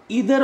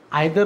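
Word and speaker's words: either: जैसे क्या होता है, इधर और, नीदर नॉर, आइदर और भी बोलते हैं, नाइदर नॉर भी बोलते हैं, ये दो तरह से इसका प्रोनाउंसिएशन होता है, तो जो आप करते हैं आप अपने अनुसार से करेंगे।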